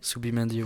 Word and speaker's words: Zubimendi: Ensuite, on a Zubimendi, C'est ça, c'est comme ça que ça se dit. Subimendi, ouais. On a Merino et David Silva, ça va, David Silva, L'Espagnol.